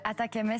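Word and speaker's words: ATACMS: ces missiles les missiles attaque MS sont l'acronyme de Army tactile missile système prononcé en anglais attaquem traduisz attaquezles c'est ici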